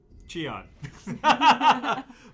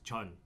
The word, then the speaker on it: Cheon: the proper pronunciation is Chun, which doesn't make any sense, right? But that's the proper pronunciation in Korean, it's Chun.